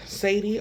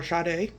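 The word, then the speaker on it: Sada: So I'm going to pick up a little bit of Sadie or Sade. I'm going to call it Sade because it's spelled S-A-D-A. I'm going to keep it with Sade.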